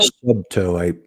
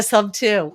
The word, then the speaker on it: Subto: I was calling it So Subto. I realized I was completely mispronouncing that. yeah, Sub 2.